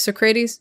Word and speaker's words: Socrates: Socrates.